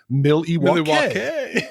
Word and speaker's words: Milwaukee: And then Alice Cooper's like, yep, Pete, it's actually pronounced Milwaukee.